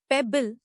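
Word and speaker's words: pebble: पेबल नया लफ्ज पेबल इसको तोड़ते हैं।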